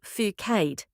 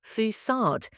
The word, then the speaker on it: facade: Don't say "foo-cade". The C with a cedilla makes an S sound. The correct pronunciation is "foo-sod".